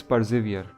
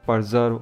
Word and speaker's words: persevere: in my previous video the word is persevere not perserve or whatsoever I said